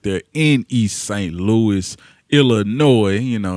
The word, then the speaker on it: Illinois: Louis, Illinois. You know, of course, the S is silent on the end.